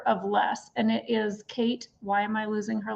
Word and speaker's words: Cait: kill Kate Flanders yes and it's spelled c-a-i-t Kate Flanders and in her book